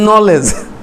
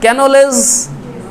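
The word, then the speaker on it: knowledge: এখানে কে না থাকলেও কিন্তু চলতো, নি, উচ্চারণ ঠিকই হতো, বানানটা হতো না। আচ্ছা যাক, তারপরে যেমন একটু আগে বলতেছিলাম ওই যে নলেজ, হ্যাঁ, ওখানে কি বলবো যে ক্যানোলেজ, না তো কীরকম হচ্ছে, তাই না?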